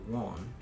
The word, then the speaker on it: won't: Y yo a veces recomiendo que el won, fíjense cómo lo acabo de pronunciar, won, yo no dije la T al final.